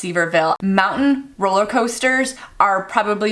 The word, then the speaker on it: Sevierville: The city reads like Sevierville, but I think it's pronounced Sevierville.